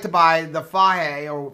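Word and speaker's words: Fage: in this yeah we like to buy the fire or faji how do you pronounce that hay whatever hey whatever that is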